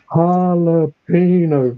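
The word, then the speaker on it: jalapeño: It's like, Jalapino, Ricky, the Jay is silent.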